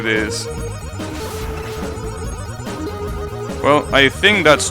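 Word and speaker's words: ゑ: We is an obsolete character, so instead of pronouncing it as we, they pronounce it as E, because we doesn't exist anymore.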